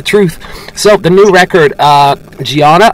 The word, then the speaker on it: Dhyana: So, the new record, Dhyana, am I pronouncing that right? Yes, that's correct.